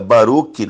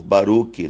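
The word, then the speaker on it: Baruch: barulho do que significa baruck baruck é para para simplificar ler Porque alguns não entendem a pronúncia hebraico a pronúncia correta é Baru mas também conhecido por Baruk no que significa abençoado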